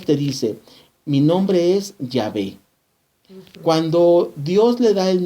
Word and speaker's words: Yahvé: como viene allí con con letras latinas pero en lenguaje Antiguo y H W que nuestro que nuestro español se pronuncia yahvé y que significa yo